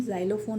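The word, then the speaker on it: xylophone: This is जाइलोफोन, okay, इसका pronunciation जाइलोफोन होगा।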